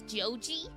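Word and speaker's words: ジョージ: a little bit, because Joji is how you would pronounce George, and that's a normal Japanese name too.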